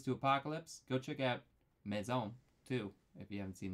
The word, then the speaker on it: maison: That was when they were like Mason? Mason? Is that Yeah. what? Maison.